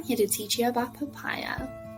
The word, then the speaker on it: POPIA: to teach you about papaya contrary to its pronunciation papaya has nothing to do with the actual fruits the abbreviation of papaya